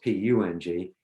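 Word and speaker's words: peng: pong so it's pronounced always pronounced p-u-n-g and pung means um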